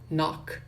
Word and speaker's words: knock: Lembrando que, né, uma coisa aqui da fonética, sempre K e N, sempre quando você vê K e N no inglês, o K não é pronunciado, tá? Então, know, knew, que é o passado de know, knee, que significa joelho, knock, que é bater, né? São palavras que se pronunciam sem o som do K, tá?